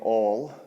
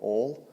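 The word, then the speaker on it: Auel: in this series uh the author jean m all i think it's pronounced i don't know how you'd pronounce a u e l all it's set i think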